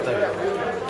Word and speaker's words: Thug: but it's pronounced thug.